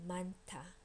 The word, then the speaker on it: 많다: N goes with the first syllable. H goes with the second syllable, making the second syllable aspirated.